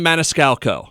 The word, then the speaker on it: Maniscalco: I'm not great at pronouncing last names, and yours is a mouthful. Give it a shot. Sebastian Maniscalco.